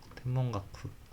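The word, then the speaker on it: 天文学: 그다음에 마타와 소레라노 그것들을 연구 켄큐 칸소쿠스루 가구먼 연구 관측하는 학문 템분 템문 템문가쿠는 아니었던 거 같은데 템분가쿠였던 거 같은데 아니네 템문가쿠네 아 죄송합니다. 제가 일본어를 못 해서 템몽가쿠 템몽가쿠라고 읽네요. 그다음에 보시면 어네 기쇼겐슈라고 하죠.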